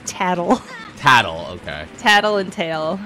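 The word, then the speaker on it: Tatl: of them named tail is the other name toddy or did i make that up toddy hot toddy uh it's tattle tattle okay tattle and tail yeah i can't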